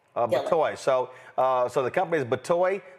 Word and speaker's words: Batoy: Just pronounce that for us. Batoy. Batoy.